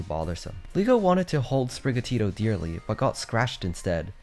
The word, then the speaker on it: Sprigatito: in the sneak peek Ron pronounced sprig atito like a normal person naturally saying the word but they made Zeno redo it and now the finalized dub pronunciation emphasizes the Tito at the end spro has been registered